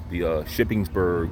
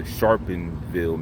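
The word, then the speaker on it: Sharpeville: I said it wrong. I thought it was the Shippensburg massacre, but it was the Sharpenville massacre.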